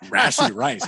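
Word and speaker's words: Rashee Rice: saying his name wrong is it not Russia you're a horrible name oh it's just rashy rice it sounds like rice that gives you a rash I mean rashy rice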